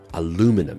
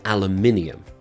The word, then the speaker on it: aluminium: one is pronounced differently aluminum aluminum in British English that's aluminium very different aluminum is American and we have airplane